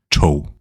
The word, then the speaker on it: tog: Not to be confused with the Danish word for train, which is spelled the same way, but pronounced tog. Here, to take in the past tense is pronounced tog.